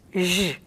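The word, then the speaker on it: Ж: And it's pronounced je.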